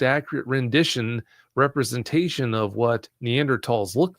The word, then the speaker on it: Neanderthal: You'll be taken to a website where they show a Neanderl and it is pronounced Neanderl, not Neanderthal. The H is silent before I get blown up with a bunch of messages.